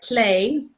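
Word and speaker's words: Lleu: And their names are Clay, which is how you pronounce his weird Welsh name, because he's based on Welsh mythology, and Gawain, his twin sister.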